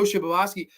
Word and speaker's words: Shibasaki: Sorry, that name is just, for some reason, there's one extra syllable in there that just fucks me up. Ko Shibasaki. They were both talking about